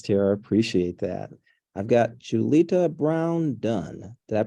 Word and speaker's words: Julita Brown-Dunn: I've got Julita Brown Dunn. Did I pronounce that right?